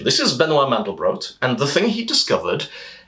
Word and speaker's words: Benoit Mandelbrot: Benoit Mandelbrot by the way a detail on pronunciation this is Benoit Mandelbrot and the thing he discovered is known as